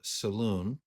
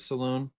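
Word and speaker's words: Selûne: many to be be the daughter of uh Salon um is that how everybody else would pronounce it Saloon salun yeah I've always done salun okay we'll use salun god of the Moon um theu the Unicorn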